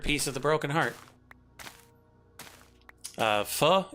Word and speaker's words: pho: Pho, it's a, I believe, Vietnamese soup. It's spelled P-H-O. Pho.